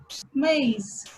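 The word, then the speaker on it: maïs: In this word, there is a trema over the letter I, then we have to pronounce A and I separately. So, maize, which means corn.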